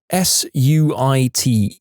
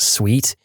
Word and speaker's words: suite: Dear, that word you just spelled isn't pronounced sweet. She said like she was talking to a 5-year-old that had just failed kindergarten. It's pronounced suit.